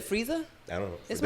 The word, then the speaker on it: Frieza: You said Frieza? I don't know. Is Did I my name say it right? Frieza?